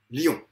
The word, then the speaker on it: lion: Quand on le prononce en une fois, on pratique ce qu'on appelle une synérèse. C'est quand un groupe vocalique, i, on, lion, se prononce en une fois. Par contre, quand le groupe vocalique se prononce en deux fois, li, on, donc li, on, eh bien, on dit qu'il s'agit d'une diérèse. Donc, on comprend, synérèse, lion, diérèse, li, on.